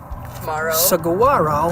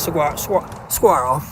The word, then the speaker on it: Saguaro: We're out here in the desert in Saguaro. I don't know if you pronounce that G or not. Some people do, some people don't. I try to half pronounce Saguaro.